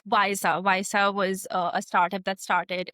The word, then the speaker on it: Wysa: If I look at apps like Visa was a startup that started in Bangalore.